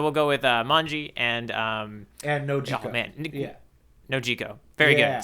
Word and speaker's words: Nojiko: I think I'm gonna say, if that's Manji, then I think we should pronounce this Nojiko. Yeah, I'm kind of thinking that too. I think I've been taking my my Spanish vowels everywhere with me, and so I think let's go with.